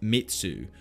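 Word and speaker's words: 滅: The blade has the character for slay, pronounced Metsu, which can also mean destruction in the Japanese language.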